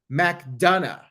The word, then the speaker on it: McDonough: the viewership and support McDonough is how you pronounce his name JD McDonough I'm gonna